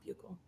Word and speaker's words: buccal: I learned today that they're pronounced buccal, not buccal.